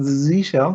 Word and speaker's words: zsh: shell which followed onto c shell which is not z shell just to get the pronunciation right and of course bash